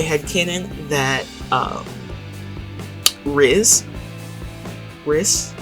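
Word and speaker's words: Rhys: cannon that um RZ RIS RIS it's it's spelled RH Ys uh so risk I had Canon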